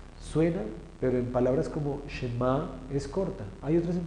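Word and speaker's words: שְׁמַע: En este caso la Shin absorbe el sonido de la E. Shema, Shema.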